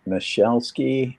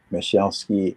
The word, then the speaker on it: Musielski: So that's pronounced Michelleki and it's a tough one to pronounce but then people pronounce it a bunch of different ways but it's Michelle ski mus ki on clubhouse.